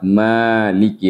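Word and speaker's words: مالك: Jadi nanti siapapun yang membaca Al-Fatihah, karena kita menggunakan qiraah hafaz, maka tetap dibacanya dengan huruf mim yang dipanjangkan dengan menggunakan mad. Jadi kita baca maliki yaumiddin. Nah, sekarang kita berbicara tentang yaumiddin.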